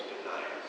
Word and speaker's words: Benaiah: And you don't need to worry about, his name, but it's Benaiah. Okay, and that's how I'm going to say his name, is Benaiah.